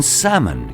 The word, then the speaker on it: salmon: Even salmon contains a silent L.